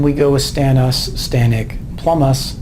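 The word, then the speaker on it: plumbous: By the way, the B in plumum is silent, but because most of the nomenclature that we do is written, if you want to pronounce the B instead of plumus and plumic, okay, if it gets you to spell it right, even better.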